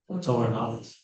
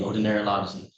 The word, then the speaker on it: otolaryngology: markets and orthopedics, oncology, and I pronounced it right. Otorhinology. Oh yeah, otolaryngology.